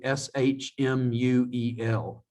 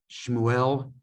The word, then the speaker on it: Shmuel: It's Samuel in Hebrew, Shmuel, Shmuel, and then Safrai, Safrai.